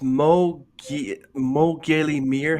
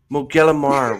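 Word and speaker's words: Mo Ghile Mear: So that was Mo Gailey Mir. How do you pronounce that? Machilamar. Mo Gellamar.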